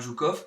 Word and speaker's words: Zhukov: a le général Yukov, alors ça s'écrit J-O-U-K-O-V ou I-O-U-K-O-V, donc le général Zhukov, qui était celui qui